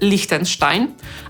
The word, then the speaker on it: Liechtenstein: Mamy w Europie również państwo, którego nazwa kończy się w pisowni na „-stein” i po polsku wymawiamy je Liechtenstein – „lichtensztajn”, a po angielsku jest to /ˈlɪktənstaɪn/.